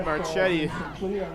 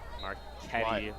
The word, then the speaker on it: Marchetti: But yeah, it's an Italian name, so the CH is a K.